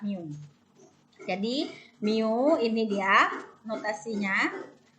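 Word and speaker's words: μ: dia tetap sebutannya rata-rata lambangnya adalah Miu ya Ini bacanya adalah Miu jadi Miu ini dia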